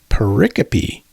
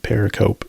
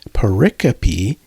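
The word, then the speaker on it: pericope: If a paricopy, that's p i c o p e, which up until a few minutes ago I pronounced paricope until I looked it up on Websters, but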